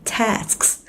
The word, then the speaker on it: tasks: Mình cứ tưởng tượng là tasks, nó sẽ là task, bật thêm cái âm ở đuôi nữa.